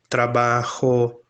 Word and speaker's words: trabajo: Ri e depois Gagogu, a letra J, ela sempre vai ter esse som ao lado de qualquer vogal. Tá? Juan, trabajo, jueves, vai ser sempre este som.